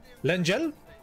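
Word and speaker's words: Lengyel: Yeah, it's pronounced Lengel, right?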